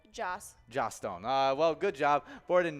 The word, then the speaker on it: Joss Stone: Gostone? Is that how you say her name? Joss. Joss Stone.